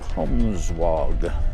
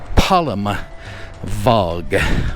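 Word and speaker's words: Palmwag: and we're headed on out to Palmsog. So, I just got the pron uh the correction on the pronunciation and it is Palm Vog.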